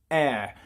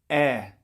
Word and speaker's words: heir: t of course d his new girlfriend is heir to a fortune now uh yeah okay so this is air as in you're going to inherit something and it's pronounced the same as at the air that